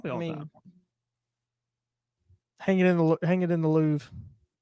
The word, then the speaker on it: Louvre: Hang it in the Louvre. You know how many people think that it's pronounced Lavore?